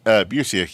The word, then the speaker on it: Busiek: Which I knew was Alex Ross because I'm more of a visual person, but I'm going to probably it's mispronounce gorgeous, this. Kurt Busiek? Busiek, yeah.